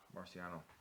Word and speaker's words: Marciano: know there is a huge Rocky Marciano Marcia Marciano that's right thank you fan I was I was afraid to pronunciate that because I knew when those coming